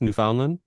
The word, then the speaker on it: Newfoundland: I don't even know how to pronounce that. Where's that? Is that a real place? It's Newfoundland.